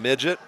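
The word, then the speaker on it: Midgyett: Midget, spelled M-I-D-G-Y-E-T-T. And I pronounce it the same way you do, but I'm wondering if there's another way. Well, I started off that way, but then we checked, and it is Midget.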